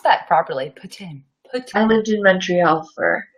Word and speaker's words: poutine: I love that you pronounced that properly. Poutine.